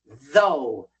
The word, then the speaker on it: though: Though though the th is a a voice th and the ou makes the long o sound though.